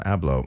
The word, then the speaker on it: Abloh: So, Virgil is it Abloh? How do you say his last name? Abloh.